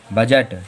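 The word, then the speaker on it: budget: देखो फिर से डी जो है वो जी के पहले आ रहा है तो फिर से डी साइलेंट, हम लोग पढ़ेंगे क्या, जेट। बजट।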